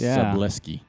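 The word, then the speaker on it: Szablewski: s k i so it's like bruski but with an l and a s so it's seski let's go with that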